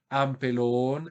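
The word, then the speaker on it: ἀμπελών: Y observen también que la acentuación va a caer sobre la última sílaba del nominativo singular. Por tanto, el vocativo singular va a ser exactamente igual al nominativo. Ampelón, ampelonos, jo, es la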